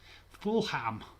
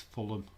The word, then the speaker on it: Fulham: not too bad but watching americans say fulham full ham it is just delirious i'm sorry to my american fence but you say full ham it's full of it's not two words we don't do the